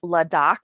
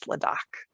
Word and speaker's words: LAHDAC: So it's pronounced LADOC.